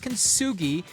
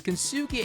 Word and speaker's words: Kintsugi: Enter Kintsugi. Pronounced kintsugi, named after the Japanese art of turning broken pottery into something beautiful and resilient.